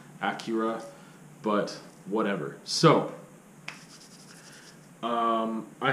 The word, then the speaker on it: Akira: a lot of people is just akira and i might say that by accident but i think i should be pronouncing it acura but whatever so um